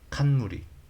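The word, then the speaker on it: 冠: 칸무리 칸무리? 왕관? 칸무리라고? 이게 뭐지? 칸무리가 관이구나. 관. 갓관. 오칸 하면은 왕관이네요. 오칸토스. 뭐를 으뜸으로 치다. 이 한자는 처음 보는데. 갓관자. 모르는 게 많아서. 칸무리라고 읽는군요. 칸무리.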